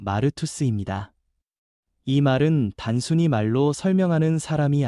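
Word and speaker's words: μάρτυς: 증인이라는 말은 헬라어 발음으로 마르투스입니다.이 말은 단순히 말로 설명하는 사람이 아니라 자기 삼전체로 예수님이 살아 계심을 보여주는 사람을 뜻합니다.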